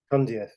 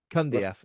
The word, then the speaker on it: Cundieff: Cundieff. Cundieff.